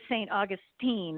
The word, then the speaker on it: St. Augustine: me when I went down there it is st. Augustine is how it st. Augustine is how it's pronounced oh yeah so they make they corrected